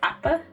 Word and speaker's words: Appa: I'm trying to pronounce it correctly because I remember you saying about me like enunciating on like the P's, like Appa.